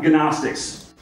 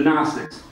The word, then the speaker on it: Gnostics: So that's why my silent G is there. It's like gnat, right? It's not Gnostics. The Gnostics.